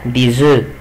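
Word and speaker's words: œufs: طب الجمع بتاعها يبقى دي زو، خلي بالك في الجمع بنطقش الاف، يبقى دي زو، وبنطق الاس زد عشان بعدها ان فويل.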